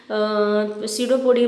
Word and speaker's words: pseudopodia: ठीक है, pseudopodia को हम pseudopodia में P is silent, false feed इसको भी बोलते हैं।